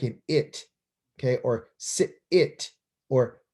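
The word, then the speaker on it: אני: okay so he says ani anee means i so when you're talking to you and i you say this right here is silent this that vowel that you see underneath it that's a vowel point is an ah sound it's a real quick reduced eyes just ah real quick ah and then this letter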